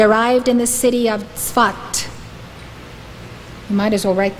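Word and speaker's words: Safed: of Israel he arrived in the city of Swat you might as well write this down then it is spelled s-a-f-e-d but it's pronounced svat he arrived in the city of spot in 1570.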